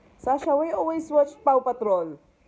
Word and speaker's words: Paw Patrol: There's no L. It's Paw.